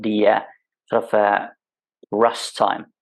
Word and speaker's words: russ: It's called the sort of rust time, it's spelled RUSS.